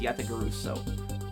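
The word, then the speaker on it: Yatagarasu: pronounced um how it's spelled um yata guso yat guso yat guso yat guso that's how it's pronounced yat guso okay um y yat guso or Y yat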